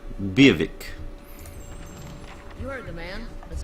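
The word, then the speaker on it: Biawac: For the future reference, this word is pronounced Beerwick. V with a W accent, A, V, I, K. V, I, K. Beerwick.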